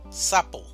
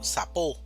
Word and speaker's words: sapo: Si el acento o la mayor entonación estuviera en la otra sílaba, diríamos sapó, pero no decimos sapó. En español se dice sapo, sa, la mayor fuerza en esta sílaba.